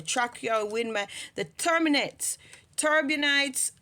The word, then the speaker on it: turbinates: your wind the terminates turbinates or however you choose to pronounce it I say turbonet some people say turbon knes however now the turbinates